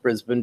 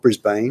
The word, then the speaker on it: Brisbane: the stories have been which I know it's pronounced Brisbane because of you Brisbane it looked like Brisbane to me what do I know I mean